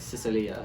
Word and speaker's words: Sicilia: Yeah, like Sicilia if you're like Italian.